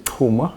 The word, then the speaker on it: Chuma: Well, my name is Chuma. I know, I never pronounce it well.